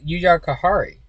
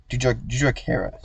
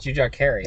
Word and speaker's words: Jujhar Khaira: Jujhar Kahari. Jujhar Khaira. Jujhar Khaira.